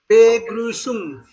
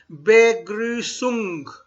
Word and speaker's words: Begrüßung: You have to pronounce all the words. All the alphabets have to be pronounced. Okay? All the alphabets need to be pronounced. Begrüßung. There is no sha. There is no sha. Begrüßung. Okay. Begrüßung. This is double S.